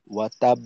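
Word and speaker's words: وَتَبَّ: ওয়াও জবর ওয়া, তা বা জবর তাব, বা জবর বা, ওয়া তাব বা।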